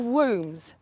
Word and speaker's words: womb: women because we have wombs. Womb-en, that is the word woman. The B is silent, like the B is silent in so many words, like it's a play on words.